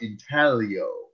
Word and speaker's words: intaglio: of something we call intaglio printing. That big fancy I word that's on the screen there. The G is silent. It's pronounced intaglio.